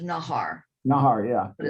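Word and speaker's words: Najar: direct line too it's naj ar but it's pronounced nahar nahari yeah but it's pronounced it's spelled n-a-j-a-r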